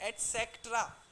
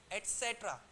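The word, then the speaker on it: et cetera: they those the एट इसको क्या pronounce करते हैं प्लीज बताएंगे टीसी को एट सेक्ट्रा राइट आप क्या कर बोलिए इट्स नॉट एट सेक्ट्रा एट सेट्र स देयर इज अ स राइट एट सेट्र बोलो एक बार एट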